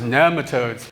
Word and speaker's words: nematodes: And then someone commented on one of my videos, it's not pronounced that way, it's pronounced nematodes.